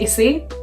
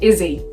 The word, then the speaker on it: Issie: By the way, my name is pronounced Issy, not Izzy. Issy.